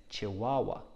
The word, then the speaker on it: chihuahua: wah chih wah wahs it's a very hard word to spell but it's quite easy to say chihuahua i think chihuahuas are pretty cute dogs which dog is your favorite so even though it's spelt with hs just make a what chihuahua i hope you know